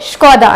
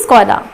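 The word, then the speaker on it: Škoda: चलती ही रहती है, तो हम इसे स्कोडा बोलते हैं क्योंकि ये लिखाया ही ऐसा जाता है, बट एक्चुअली इसे स को श बोला जाता है, इसीलिए आप बोलेंगे स्कोडा ना कि स्कोडा।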